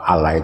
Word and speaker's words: Allah: Iya Allah. Dibaca double, Pak ya.